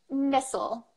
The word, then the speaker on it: missile: just woken up so missile missile you change the vowel completely yeah missile this is